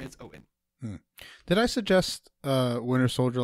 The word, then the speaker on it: Eoin: Yes, Owen. Yes, that is how you pronounce that. It is spelled Eoin, but I'm 95% certain it's Owen.